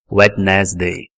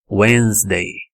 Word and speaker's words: Wednesday: tivesse ouvido a palavra ela provavelmente arriscar alguma coisa do tipo wednesday né que simplesmente é um som que não existe o d não existe nessa palavra o d depois do e ele fica somente como wednesday wednesday wednesday Ok igualzinho tá escrito na transcrição fonética essa palavra Alguém já